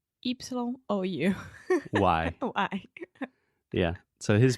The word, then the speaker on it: Carreyrou: It looks like Carreira, but it's Carreyrou. Yeah, I'm not exactly sure how you pronounce the name. Carreyrou.